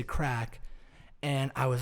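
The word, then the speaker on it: craic: and it's a term it's spelt c-r-a-i-c crack it's a crake but they say crack and i was like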